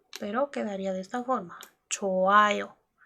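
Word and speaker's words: 좋아요: Choayo. Les acabo de decir que la J como pachim no suena, en este caso tampoco suena. Quitamos la J o no la pronunciamos, sería choayo.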